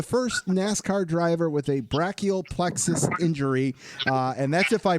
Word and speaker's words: brachial plexus: Well, for first off, it's pronounced brachial plexus injury. I mean, you're completely fine. A lot of people pronounce it that way.